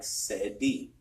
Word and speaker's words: Ceddi: We are at Spot On Lounge in Sacramento, and we have Ceddi. Sorry so much. It's like Cedric. Okay, like Cedric. Like Ceddi.